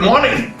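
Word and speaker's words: morning: क्या? Good मॉर्निंग नहीं, good मॉर्निंग। आर देखो कितना साइलेंट है।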